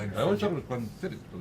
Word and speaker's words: Glenfiddich: to you by Alec Bradley and their co-sponsor Glenfiddich. Did I say it right? Glenfiddich. Yep. I used to say Glenfiddich. No, I always thought it was Glenfiddich, but it's Glenfiddich.